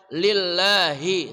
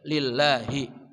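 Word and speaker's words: لله: Kemudian lillahi, sama-sama hi, bedakan ha dan ha. Bedanya ha tengah kerongkongan. Ha di sini ya. Ha itu dari pangkal kerongkongan. Ha hi hu bah. Lillahi ya, lillahi. Nah, ada orang membacanya sekedar lillahi gitu ya. Lillahi. Jadi mesti jelas haknya.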